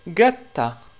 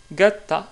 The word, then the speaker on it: gatta: Par exemple, pour ce mot-là, justement, qu'est-ce qui veut dire un chat, en italien, on le prononce gatto, gatto. Et le féminin de ce mot-là est gatta, gatta, qui veut dire une chatte.